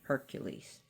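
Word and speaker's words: Heracles: of Zeus is if Eericles who we call Hercules especially that's a Roman pronunciation of Hercules but who we know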